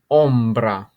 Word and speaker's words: ombra: the Shadows but to say one shadow Umbra ombra okay this here is a Panino it is